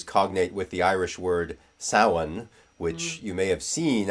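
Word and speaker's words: Samhain: people think is pronounced samhane because it's spelled s a m h a i n but that's not how it's pronounced in Irish um and so simonios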